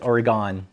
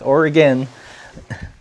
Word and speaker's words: Oregon: the blasts when the people from different states would pronounce it Oregon it's like now we're still here it's or again okay I'm going to